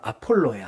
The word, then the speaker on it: 아볼로: 아볼로는 요즘 발음으로 아폴로예요, 아폴로. 네, 아폴로를 발음이 좀 순하게 돼서 아볼로라고 하는데, 아폴로라는 사람이 썼을 것이다.